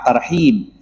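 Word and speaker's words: ترحيب: disebut tarhib Ramadan ya pakai ha tarhib yaitu bergembira menyambut datangnya bulan Ramadan sedikit saja salah pembacaan atau makhrajnya membacanya tarhib pakai ha maka justru artinya bisa jadi kebalikannya kalau TH atau menyambut maka tarhib artinya ancaman atau intimidasi maka tarhib Ramadan artinya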